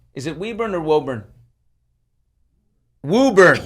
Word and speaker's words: Woburn: Woburn. Woburn. Close. The Massachusetts people pronounced it.